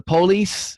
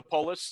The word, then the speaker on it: Polis: You've got your podcast, the Unity of the Police. Is that, I pronounce that right, or Polis? Yeah, Unity of the Polis. Polis. Either way, that's fine. Yeah, Polis means people. It's Greek for people.